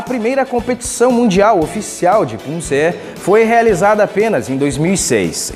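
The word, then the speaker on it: 품새: Contudo, como mencionado, a pronúncia permanece Punse.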